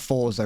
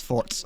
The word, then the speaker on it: forza: can actually distinguish teammates like When there's a Z or a Z in an Italian word, it's usually got more of a T sound to it somewhere, isn't it? Do it on full charges. Like you pronounce there's a bit of a sound to it. It's like Forza. It's not Forza. It's Forza.